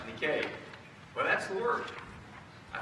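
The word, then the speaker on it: νίκη: Which, by the way, the word for overcome is spelled N-I-K-E. You know that? It is. And it's not pronounced Nike. It's pronounced Nikkei.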